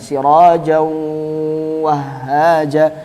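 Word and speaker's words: سِرَاجًا وَهَّاجًا: Cara bacanya kayak wau siraj wahaja ngoten. Sirajau wahaja. Enggak boleh kita bacanya sirajau.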